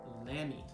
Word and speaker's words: Lamy: i just picked up and it's called a lamy i believe it's pronounced l-a-m-y they make fountain pens uh they're